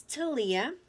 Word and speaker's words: Thalia: myself my name is Thalia I'm like Lea with the TA at the beginning a lot of people